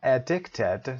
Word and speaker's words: addicted: اما addicted تلفظ رو دقت داشته باشید، برای addict صدای ا داشتیم، addicted صفت هست unable to stop taking a harmful substance, especially a drug, for example, addicted to.